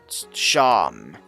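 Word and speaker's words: Seam: The name Sham. Pronounced Sham.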